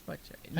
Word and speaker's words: Buck Cherry: Buck Naked buck buck cherries I think it's Buck Cherry never heard I don't Moving on but cherries